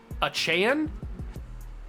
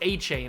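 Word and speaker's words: Achane: sure it was Devon achan I don't think it was a chain I think it was a Chan is how he wanted to pronounce I apologize if that's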